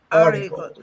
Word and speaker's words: article: the article of the article remember the pronunciation of the r sound is relaxed when you say article article article okay check the sentence